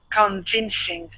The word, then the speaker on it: convincing: Convincing. Good. One more time. Now this the beginning is going to be kun as well. We won't say con. Okay, so it's kun. Convincing.